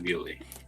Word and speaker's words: Beulah: meant to be in Bewley. Bewley. It was. How was it spelled? Bewley. It was spelled how it's pronounced. Bewley.